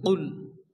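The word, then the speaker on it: قل: আছে কফ লাম পেশ কুল এখানে কফ দিয়ে উচ্চারণ হবে কুল অনেকে আছে কাফ দিয়ে উচ্চারণ হবে কুল পড়ে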